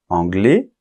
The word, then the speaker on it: anglais: Espagne espagnol espagnol Royaume-Uni anglais anglaise tu vois la différence anglais on ne prononce pas la lettre S finale anglaise on va prononcer